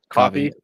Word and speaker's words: Ko-fi: account for sure yeah how do you pronounce that is it Kofi coffee pronounce coffee and how do you